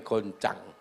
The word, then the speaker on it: guncang: Tulisannya guncang, bacanya goncang.